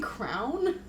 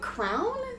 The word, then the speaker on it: crayon: he like you saying Crown am I saying it wrong no there's three different ways it's an accent thing I three I know twoo but Crown Crown is one of them Crown like a we're